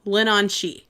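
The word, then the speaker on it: Leanan sídhe: And now I know how to say the name. It's Lenon She.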